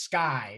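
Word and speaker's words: SCCEI: development so what is sky so s c c e i lots of lots of us we pronounce it sky for short um we're stanford's home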